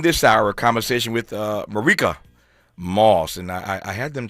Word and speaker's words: Marique: It's spelled Marique, which looks like what? Marique, but it's not Marique. It's Marique. Marique B. Moss is how you pronounce it, and she has a